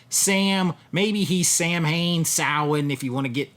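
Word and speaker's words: Samhain: They're all connected by a mysterious pumpkin-headed Sam, maybe he's Sam Hayne, Sin, if you want to get technical on how to pronounce it. We say Sam Hayne here in the United States.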